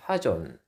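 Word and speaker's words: חזון: 하존. 근데 영어로는 이것이 KJV에서는 비전으로 번역이 되었습니다. 비전, 하존, 좀 발음이 좀 비슷하네요. 외우기 쉽습니다. 비전이 뭐라고요? 하존이다. 히브리어로. 음절도 두 음절 똑같네요.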